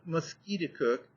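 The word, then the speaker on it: Musketicook: name of conquered River he pronounced it mosqu cook emphasizing the second syllable with a peculiar guttural sound and said that it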